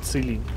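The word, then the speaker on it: Qilin: И новинка прошлого года VZ-111 Целинь. Ребята, кто говорит Кулинь, говорит неправильно. Можете сами попробовать загуглить Целинь. Правильно произносится Целинь.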